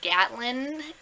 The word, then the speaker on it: Gatlin: But it takes place basically over the summer in Gatlin, right? That's how you pronounce it.